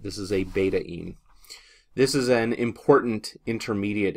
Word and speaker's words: betaine: is referred to as beta in that's how you would pronounce it beta like the Greek letter beta and then add an in at the end of it this is a beta in this is an important